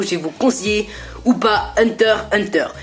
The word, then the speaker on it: Hunter x Hunter: vous conseiller ou pas hunter hunter et non pas un hunter x hunter pages que le x ne bronche pas je suis désolé pour tous les rageux qui disait x ça se prononce pas enfin bref allez on